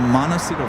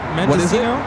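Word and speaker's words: Mendocino: It is from Monosito Farms and it claims to be Oh, did I say it wrong? Rita Mendesino.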